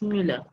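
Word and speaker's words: Müller: this the name is muller muller is not normally the mueller is with the umlaut sound it's mula i just want to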